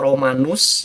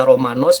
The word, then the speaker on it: Romanos: itu namanya romanos atau romanus ya cara bacanya bisa romanus Bisa romanus nggak ada hubungan sama tetanus ya romadu sempat diogenes namanya